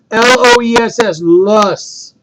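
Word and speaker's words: loess: with stardoon all right this next word is pronounced lus now lust is also comes from a glacier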